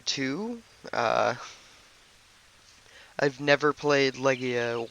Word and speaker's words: Legaia: care how it's pronounced I pronounce it Leia even though it looks like leay uh couple things I